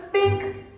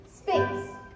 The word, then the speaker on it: sphinx: You're as tight-lipped as an oyster, and as silent as an old Sahara spink. Sphinx. Huh? Sphinx. Nuh-uh, spink. Spelled with an X.